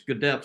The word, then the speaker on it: Gedeptin: And some advertising person came up with the concept that if you phonetically try to pronounce that, it's Gedeptin, so we call it Gedeptin.